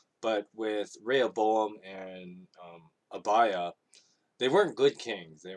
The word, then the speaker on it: Abijah: pronouns his name is hibaijo but i think it's actually pronounced abaya uh the j is actually no that's because a lot of these names you know the j is like a y sound but anyway abaya was